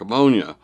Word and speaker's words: Ammonia: from Tallahassee at Lake Ammonia, an apt name for that truly poisonous-looking lake if I ever heard one. It was indeed pronounced ammonia, but we sometimes said pneumonia.